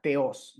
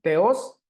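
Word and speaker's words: Θεός: en este caso pues le iríamos la palabra teos verdad teos dejando el acento entonces en la segunda sílaba el acento grave suele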